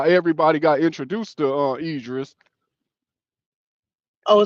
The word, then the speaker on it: Idris: Idris oh say it was this how you say his name Edris yeah well that's what I said Edis it's close enough it sound more right because I've been to call him eldis so you right closer